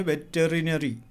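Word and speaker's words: veterinary: वेटनरी doctor, वो ये वेटरिनरी doctor बोलता है, वेटरिनरी स्पेलिंग है वेटरिनरी, बोलना है वेटरिनरी, पढ़ना है वेटरिनरी.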